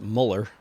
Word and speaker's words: Mueller: a level of uh mueller which i've heard pronounced muller i don't know how the hell to pronounce that guy's name i most hear most often here at mueller i believe but anyway that dude